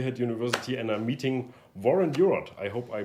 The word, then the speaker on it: Warren Huart: two month we had University and a meeting warrant Europe I hope I pronounced it right that's perfect I know warrant